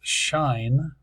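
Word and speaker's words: sinh: easy that's a cinch depends upon on what country you're from how you might um pronounce this the I guess in England they call this shine I'm not sure why they move the H over here but and cinch doesn't make a whole lot of sense with the CH but that's what we usually call it here depends upon where you're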